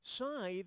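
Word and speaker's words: scythe: Lethe tithe or Roth keep size rhymes with tithe but I still like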